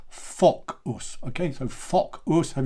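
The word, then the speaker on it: Focus: But we do want to say Fock us.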